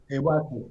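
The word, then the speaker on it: 岩手: Iwate.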